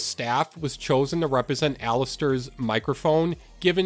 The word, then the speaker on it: Alastor: The character Alastor, yeah, that's right, I said it right this time. I didn't say Alastor, I said Alastor, so you guys can't make fun of me